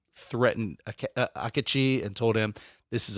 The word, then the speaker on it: Akechi: He was Akechi, I think is how it's pronounced.